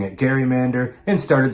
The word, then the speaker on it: gerrymander: Eventually, people stopped pronouncing it gerrymander and started saying gerrymander.